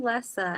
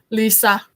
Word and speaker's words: Lessa: It's showing Lessa. Am I saying that right? Lisa. Lisa? Okay. I'm sorry. My thing, maybe Get some sleep. Yeah, it's Lisa.